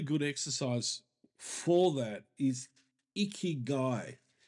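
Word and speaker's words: ikigai: One really good exercise for that is icky guy.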